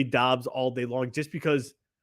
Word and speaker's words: Dobbs: It's pronounced Dobbs.